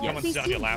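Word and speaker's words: ewe: they really cute they're like dogs it's not pronounced e it's pronounced like u e dogs they like your really sweet yeah cuz a baby goat is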